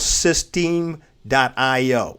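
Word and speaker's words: systeme.io: weeks ago and i love it is called system dot io or system dot io but they spell it s y s-y-s-t-e-m-e dot io that's a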